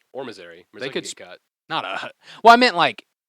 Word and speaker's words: Missouri: Misery? No, it's not supposed to be like that. Miss but Our It's Eye. not Missouri. Miss Our It's Eye. not Missouri. The I is not pronounced that way.